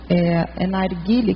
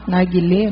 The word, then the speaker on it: narguilé: Eu estava vendo um cosmograma que falava do narguile, que fala, narguilé, não sei, que é aquele... Narguilé. O nome é narguilé. A pronúncia.